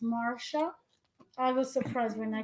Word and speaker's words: Marcia: Marcia, pronounced Marsha.